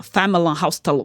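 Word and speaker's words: Familienaufstellung: E ela falou lá com o alemãozão dela, Familienhausstellung.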